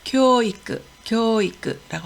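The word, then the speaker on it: 教育: 교육을 교이크라고 하고요.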